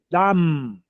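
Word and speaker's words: דם: M t a m dam. Eh, reforço isso, né? Fecha a os lábios para pronunciar o M. Dam.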